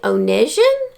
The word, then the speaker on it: Onegin: Eugenie Onegin, I believe is how it's pronounced.